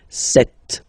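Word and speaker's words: sept: Then here remember b is not pronounced. Okay. It doesn't exist. So you've got this set sound.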